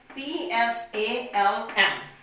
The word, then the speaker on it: psalm: P-S-A-L-M, psalm. What we will pronounce it?